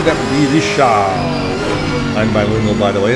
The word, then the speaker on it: Richard: I believe he's actually from Quebec, so I assume he is a French Canadian. And that would not be Richard, that would be Richard.